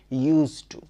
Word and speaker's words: used to: আমি বলছি ইউজড টু আমি কি ভুল উচ্চারণ করছি না লেখা থাকুক ইউ এস ই ডি টি ও বা ইউএস ই টি ও প্রতি ক্ষেত্রেই বলতে হবে ইউজ টু ইউজ টু সতর্ক থাকতে